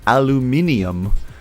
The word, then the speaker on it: aluminium: in the us but in the uk it's spelled and pronounced differently there's extra letters and they call it aluminium and there's an i-u-m and then so i